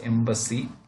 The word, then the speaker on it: EEMBC: which is called the embassy embc this one eembc which is pronounced as embassy which is an example